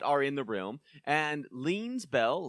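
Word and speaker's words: Leene: His mom and dad are in the room, and Lean's bell, Lean rhymes with queen.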